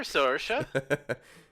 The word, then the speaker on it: Sorcia: on on social sorry I feel like I always said that wrong I I've been pronouncing it sorcia on purpose so let's let's ask her what she how she wants it to be said I I prefer sorcia